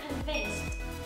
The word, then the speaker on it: convinced: Cái từ convince, nguyên mẫu của nó kết thúc bằng CE, nó sẽ là âm S. Còn ED, nếu mà bạn đứng ở sau âm S thì sẽ tạo thành âm T. Do đó mình sẽ phát âm là convinced.